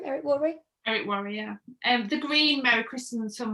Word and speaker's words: Eric Worre: Eric Worre, yeah.